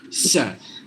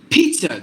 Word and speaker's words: pizza: is a short sound Pete Pizza Pizza there is no z sound at all no before I